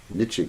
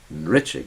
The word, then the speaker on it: Nritya: Although most devotees pronounce it the wrong way. They say Mahaprabhu Kirtana Nritya Gita. Wrong. You failed. It's Nritya Gita. N-R-I-T-R-Y. Nritya. Y-A, yeah. So Nritya Gita.